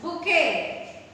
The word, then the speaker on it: bouquet: This is bouquet. Class, be careful while writing the spelling of bouquet because it is little tricky. BOUQUET. See here T. The sound T is silent and the spelling of bouquet is BOUQUET.